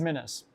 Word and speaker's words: de minimis: Diminis.